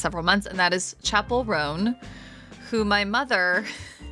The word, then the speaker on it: Chappell Roan: months, and that is Chappell Roan, who my mother pronounced as Charnel Ronan a few weeks ago, just like a classic mom.